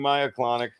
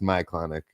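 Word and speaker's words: myoclonic: clonic jerk I'm soric I'm the jerk mispronouncing Maya clonic actually it is pronounced Mya clonic my CL silent thanks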